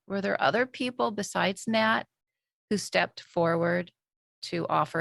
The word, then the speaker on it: Nat: Were there other people besides Nate? Is it Nate or Nat? I think it's Nat, but you would Nat. know like N-A-T. Like how do you pronounce it? Yes. And Nat, like a Nat. bat.